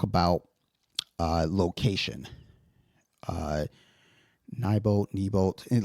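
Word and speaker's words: Neibolt: Uh, nyol, kneebolt, and like every time I hear them say it, I know they're saying it right, but then I read it as nybolt.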